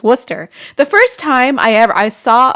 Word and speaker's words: Worcester: It looks like Worcestershire. Worcestershire. Worcestershire, but it's Worcester. The first time I saw a sign that said Worcester, I was like, where?